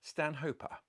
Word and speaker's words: Stanhopea: rules of nenat are if a plant is named after a person then you pronounce that person's name as per the person's name in the latinized version